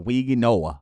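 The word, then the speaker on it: Mauigoa: I'm going to go with Francisco, and I want to make sure I pronounce this right. Mm-hmm. It's Weezy Noah Mm-hmm.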